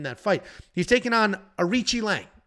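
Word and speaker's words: Aoriqileng: fight he's taking on arichi Lang is how you actually pronounce it arichi Lang is a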